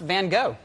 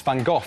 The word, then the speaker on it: van Gogh: true you know because it's actually easy pronounced van Gogh well it's not it's fun Gogh everyone knows that I think I find